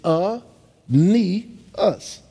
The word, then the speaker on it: Aeneas: on my rookie card on the back they phonetically sounded it out it's a knee us that taught me how